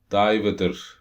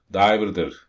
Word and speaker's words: diverter: Yani motorun İngilizce yazılımı Diverter motor diye. Okuması biraz enteresan. Diveter, Diverter, Diverter. Aynen son söylediğim şekilde.